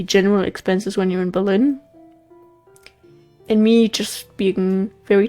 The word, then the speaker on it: Berlin: But I I hope that they will have another Berlin Berlin. Like how I just said the German pronunciation there.